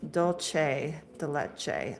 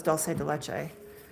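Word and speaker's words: dulce de leche: It's pronounced dolce de leche. I always thought it was doulce de leche.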